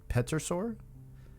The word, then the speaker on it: pterosaur: The pterosaur? Yeah. Pterosaur. Pterosaur? I think the P is silent.